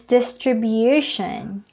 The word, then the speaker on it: distribution: the second syllable but the noun form is distribution the stress is on the third distribution next word many students